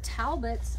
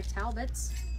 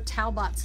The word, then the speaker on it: Talbots: this is from the uh simply flattering collection by talbots or taobots as i've heard the kids say which cracks me up because that's not how you say it um so there's the